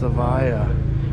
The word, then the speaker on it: Evija: in my spell division pronounced Avaya like from Eve as in with the Latin pronunciation spelling he's the first